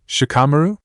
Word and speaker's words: Shikamaru: Most people say my name in Dupards. They drag idu do. Shikamaru. Shikamaru. Gu donned. Gu say id as one werda."